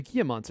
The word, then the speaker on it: Gila monster: a thing I still don't know how to pronounce Gila monster a Gia monster yeah you said it right okay good uh